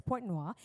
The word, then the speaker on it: Pointe-Noire: He grew up in Pointe-Noire, and I had to check the pronunciation, that's what it is, Pointe-Noire.